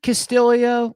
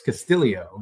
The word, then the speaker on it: Castillo: better um is it castio like yeah he he adds a syllable it's Castillo it's very weird because it's spelled like Castillo okay yeah but yeah